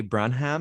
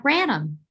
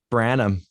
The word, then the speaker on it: Branham: with us one of our lovely filmmakers brunham am i pronouncing that correctly uh branham branham it's so great to meet you and